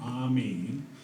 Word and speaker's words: AMIS: You may have already noticed we pronounce our AMIS acronym the French way. We call our association AMIS.